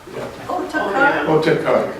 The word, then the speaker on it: Otakar: Oh, Otakar, yeah. Oh, Oh, Takar. yeah. Otakar. It's I've seen it spelled Ottakar and also Otakar.